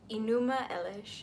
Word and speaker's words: Enuma Elish: creation of the world as written in the enuma Elish it is spelled e n u m a space e